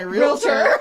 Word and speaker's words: realtor: Realtor is a 2-syllable word, everybody. I think we need to spend more time practicing that. Realtor, yes. Like, you don't go You're to not a a doctor. Remember, Daryl taught us? Yes. Or a Yes. dentist. Yes. It's like, stop it with the extra.